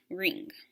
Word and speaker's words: wring: but if i add a silent w it takes on a new meaning w-r-i-n-g does anybody know what